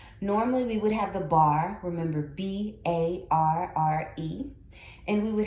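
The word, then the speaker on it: barre: Normally we would have the bar, remember B-A-R-R-E, and we would have our hand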